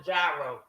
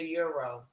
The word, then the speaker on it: gyro: The correct term is a euro. Yes, a euro. The G is silent.